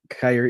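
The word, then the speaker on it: Kaiir: These young, Kyer Elam, I said his name right this time.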